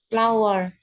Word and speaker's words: flour: Ya, tepung itu bacanya bukan flour ya. Memang tulisannya flour, tapi bacanya bukan flour. Bacanya itu sama seperti kamu pronounce bunga. Dalam bahasa Inggris apa bunga? Flower. Ya, flower. Cara bacanya sama ya.